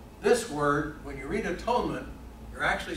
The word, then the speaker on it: atonement: Propitiation and atonement.